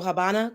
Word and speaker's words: Habana: and the ASI so Habana Cuba the V is silent which is a b I'm sorry the V makes the B sound so Habana Cuba so